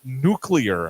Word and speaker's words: nuclear: yeah and it's nuclear it's spelled it's spelled n u c l God e a r nuclear nuclear spelled like that yeah nuclear nuclear not nuclear there's not a second u in there nuclear okay all right